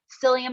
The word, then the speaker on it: psyllium: It's spelled like with a P, which sounds weird, but it's called psyllium husk.